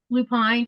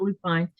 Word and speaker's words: lupine: Lupine, but some people uh Teresa says it different. Teresa, she says lupin, I think what she calls it, but here I call it lupine. And it could be me saying it wrong.